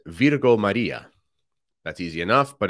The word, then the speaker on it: Virgo: That's easy enough, but if you have problems with Latin language pronunciation, it's got it written in English, V-E-E-R-G-O, so Virgo, that would be how we pronounce things like that in Latin, Maria.